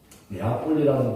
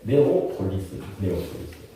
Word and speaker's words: 네오폴리스: 네아폴리라는 곳은 사실은 이제 우리 어르신 목사님들이 옛날에 한국식으로 발음하기 좋게 네아폴리 그랬는데 네오폴리스.